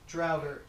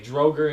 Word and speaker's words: Draugr: The undead Drogerkin. No. That's Draugr. Okay, Droger and Draugr.